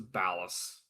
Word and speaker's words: Ballas: Okay, it's pronounced as ballast, but I like calling him ball ass.